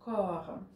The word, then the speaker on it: corps: Но нет, там произносятся два разных слова. Don't want ton cœur. И donne-moi ton corps.